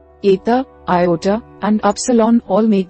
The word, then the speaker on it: eta: Eta makes an e sound, as the e in the English word meat.